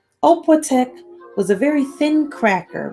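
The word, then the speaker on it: opłatek: a ritual called sharing the oppotec which is pronounced the opletic which is pronounced oppo-tech was a very thin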